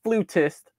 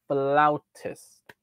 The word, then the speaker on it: flautist: Yes, that's how you pronounce the word. Not flutist. Flautist.